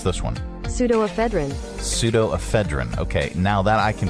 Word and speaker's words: pseudoephedrine: Okay, so how do you pronounce this one? Pseudoephedrine. Okay, now that I can pronounce that one. Pseudoephedrine.